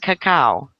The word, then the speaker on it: cacao: And it's about 80% cacao. Especially hate dark chocolate. Cacao. Really? Yep. That's how it's said, cacao. That's how it's pronounced.